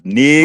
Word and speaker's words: Nigton: Just only two syllables. Nigton, right.